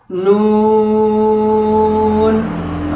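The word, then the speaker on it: ن: Begitupun dengan dalam surat Al-Qalam diawali dengan nun. Ada sebagian orang bacanya itu kan salah. Seharusnya nun. Dan dibaca panjang 6 harokat.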